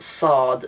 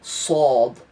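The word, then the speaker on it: صاد: This isn't sad, it's sad. You sort of deepen the sounds, you pronounce it a little bit lower.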